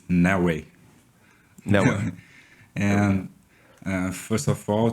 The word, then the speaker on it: Neoway: The right pronunciation is Neoway.